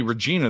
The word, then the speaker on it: Regina: name six times and Regina re e g i n a is definitely Regina that's how you say it but why are they